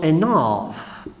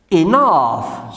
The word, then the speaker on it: enough: In English, many words finishes in G and H. You pronounce G and H F. You can say also enough. Enough, suficiente, enough.